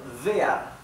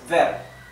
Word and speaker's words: wer: esto es vi también Recuerden que la W alemana se pronuncia como una V española Sí y vas vas